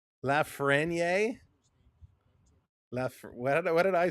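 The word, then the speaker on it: Lafrenière: You do pronounce the suffix R. Lafreniere.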